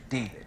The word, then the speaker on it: d4vd: And all of it has centered around the singer named David. It's pronounced David, but it's spelled with a 4.